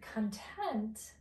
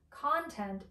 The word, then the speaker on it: content: video on the word content as an adjective, and then the word content. So it's pronounced a little bit differently, content as a noun.